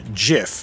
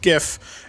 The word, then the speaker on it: GIF: that it's Jeff and when people say jiff with a soft G that's what they're referring to and that's correct and then the acronym gif is pronounced gif and that is somehow